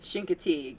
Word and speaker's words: Chincoteague: So yeah, Misty of the Continent or you know, Misty of the Chincoteague if you want to pronounce it correctly.